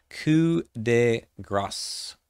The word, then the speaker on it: Coup de Grâce: Coup de Grâce. Yes, you do pronounce the S at the end of this word. It's French.